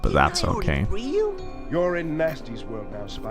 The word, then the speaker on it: Gnasty: Or nasty. I don't know. How do you say when it has a G before it? It's Gnasty. It's Gnasty Gnorc. That's how you say it, I think.